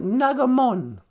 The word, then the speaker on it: nagamon: pronounce that word um we pronounce it nagamon nagamon song yeah that's right and